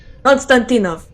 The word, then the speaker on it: Konstantinov: Konstantinov? I'm not a Russian, I'm sorry. Konstantinov. Okay, Konstantin and then off. Got it.